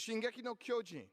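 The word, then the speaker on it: 進撃の巨人: It is Shingeki no Kyojin. That's good pronunciation.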